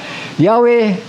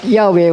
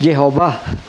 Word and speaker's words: Yahweh: it was thought that Yahweh was pronounced Jehovah. So kayo, nagkamali pa rin si King James dito. It was thought, inisip nila that yung YHW na yun ay pronounced as Jehovah.